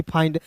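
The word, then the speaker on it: find: इसका उच्चारण आइंड के रूप में करेंगे। आइन के रूप में तो देखिए एफ का फ आई एन डी है तो दोस्तों इसका उच्चारण आइन के रूप में करेंगे तो हो गया ना जी फाइंड यानी कि दोस्तों ऐसा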